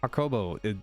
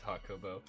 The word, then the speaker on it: Hakobo: all the time um okobo am i saying your name correctly this time yes it's it is hot kobo awesome um welcome to